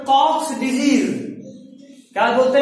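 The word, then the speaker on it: Koch: इसको कॉमनली एक और नाम से जानते हैं, इसका नाम है कॉक्स डिजीज। क्या बोलते हैं? COX disease. कॉक का स्पेलिंग के ओ सी एच होगा।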